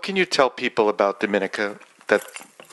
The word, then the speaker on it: Dominica: my country's name is Dominica we are not Dominican Republic so it's pronounced differently um we are about